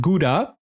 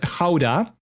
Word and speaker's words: Gouda: you don't pronounce it gouda in the netherlands you pronounce it as houda that's the dutch word for it so i think in english that would be gauda gowda i think it's not